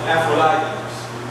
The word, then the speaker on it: Aphrodite: But Corinth was the center of the worship of Aphrodite, or some people pronounce it Aphrodites.